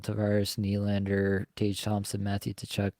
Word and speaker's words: Tkachuk: Nylander, Tage Thompson, Matthew Tkachuk, like all these guys that we all Matthew know who? can absolutely. Matthew Tkachuk, I apologize. It's an ingrained habit at this point. The T is silent, but yeah.